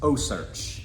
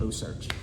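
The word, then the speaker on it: OCEARCH: with a non-profit called oh search and it's spelled o-c-e-a like ocean but then rch oh search so this is a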